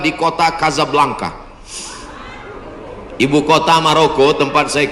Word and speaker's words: Casablanca: Hasan 2 di kota Kazablanca. Ibu kota Maroko tempat saya kuliah. Nama negaranya Maroko. Ibu kotanya tulisannya Casablanca. Cara bacanya Kazablanca. Kaza artinya rumah. Blanka artinya putih.